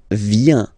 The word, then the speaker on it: viens: So the first form is je viens, je viens, okay? Remember this I, viens, viens, and then this nasal, final S not pronounced, je viens, Tu viens.